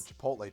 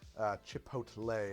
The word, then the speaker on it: Chipotle: I've been called a boomer for calling it chipotle. Chipotle. Oh, chipotle. Chipotle. Yeah. Just make it doesn't fit in your mouth as easy. The boomer pronunciation is chipotle. That's what my mom Chipotle.